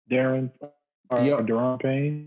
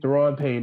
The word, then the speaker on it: Daron Payne: Daron Payne. Daron Payne.